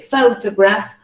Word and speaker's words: photograph: you analyze it well the word photograph has three syllables the stresses at the beginning so you say photograph the first vowel sound is not a pure vowel it's a diphthong and it's a graph the second vowel sound is a schwa so you use the schwa here because the the word is not stressed remember uh schwa is always placed on unstressed syllables and then uh graph